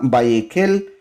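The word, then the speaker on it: ויקהל: a leer el día de hoy se llama vallequel vallequel y significa y congregó y congregó vallequel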